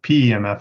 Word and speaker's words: PEMF: Pro proponent of so Vicki said pimp there uh pemf is how I usually pronounce this so pulse electromagnetic for